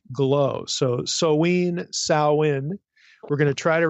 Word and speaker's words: Samhain: Now, we're tempted to look at that and say Sam Hayne and Halloween. But that is not the way we pronounce this name.